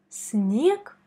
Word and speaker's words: снег: Quand tu rencontres G à la fin des mots, il faut la prononcer comme K. Ce qui nous donne снег, снег.